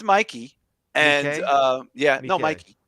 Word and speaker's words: Mikey: have not seen it Mickey Madson for Anora it's pronounced Mikey and uh yeah no